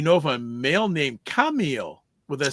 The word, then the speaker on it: Camille: So French pronunciation is Camille.